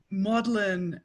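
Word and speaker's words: Magdalene: note is that um maudlin as a pronunciation is uh i forget how late it's current until but it's it's current until quite late it's very much in line with italian maddalena and french madeleine both in both of which the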